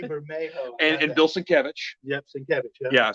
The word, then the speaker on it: Sienkiewicz: Yep, Sienkiewicz. Yeah. Yeah. So if you want to pronounce Bill Sienkiewicz's name right, just think Sin Cabbage.